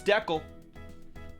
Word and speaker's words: Deckel: M Canadian can confirm it's Deckel. Yeah. I've heard decal before, but it's Deckel.